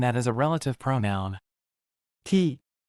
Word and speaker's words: ที่: ที่ Pronounced like T but shorter, this is your everyday hero.